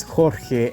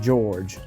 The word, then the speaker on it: Jorge: I know that his real name is pronounced as Jorge and not George.